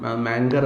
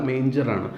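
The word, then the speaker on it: manger: മാങ്കർ അല്ല, മേഞ്ചറാണ്. ഡേഞ്ചർ എന്ന വാക്കുമായിട്ട് റൈമാണ് ചെയ്യുക, ആങ്കറുമായിട്ടല്ല അത് റൈം ചെയ്യുന്നത്.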